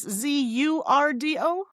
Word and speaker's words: zurdo: The other one, you spell it with the letter Z, right? Is it Z or S? Z-U-R-D-O?